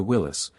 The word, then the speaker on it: Willys: It is supposed to be pronounced closer to Willis because that is how founder John North Willis said it.